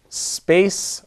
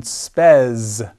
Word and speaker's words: spes: Another noun of the fifth declension would be space, or as it is pronounced in ecclesiastical pronunciation, spes. But the pronunciation that I learned is classical, space, spei, spei, spem, spei.